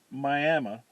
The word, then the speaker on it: Miami: Miami, Oklahoma, where they pronounce it Miami, but spell it Miami.